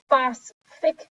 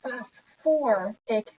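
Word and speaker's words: phosphoric: it makes sense so you wouldn't say phosphic acid you would say fast for acid you wouldn't say phosphorus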